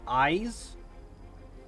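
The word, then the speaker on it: Iz: Also, this right here is apparently pronounced eyes, as in, like, eyeballs, not is.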